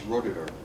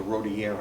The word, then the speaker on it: Roederer: Oh, no, the Louis Roederer, or the Rodier, I think, as the French would say.